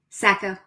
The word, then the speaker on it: Sacco: Sacco? Sacco. Sacco. Okay. There's a river in New Hampshire called the Saco that's spelled basically the same, so I wasn't sure how to do that.